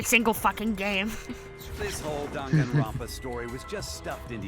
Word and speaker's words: Danganronpa: It's not Danganronpa, it's Danganronpa.